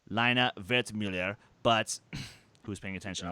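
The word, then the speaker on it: Lina Wertmüller: year that cast included Lena wert Muller well okay if you want to be technical with pronunciation lino vet Miller but who's paying attention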